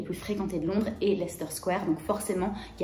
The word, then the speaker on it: Leicester Square: Attention, ça s'écrit Leicester Square, mais ça se prononce Leicester Square. Donc vous skippez la syllabe du milieu et vous dites simplement Leicester Square. Parce que si vous dites Leicester Square à quelqu'un pour trouver votre chemin, il va pas comprendre.